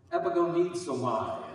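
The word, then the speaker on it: ἐπαγωνίζομαι: Epigonizomai is what they say it's pronounced as in Greek.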